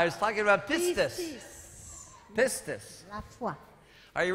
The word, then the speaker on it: pistis: And then in the Greek language for the word faith, it's the word pistis. Donc le mot pour foi est le mot en grec pistis. You can spell that P-I-S-T-I-S.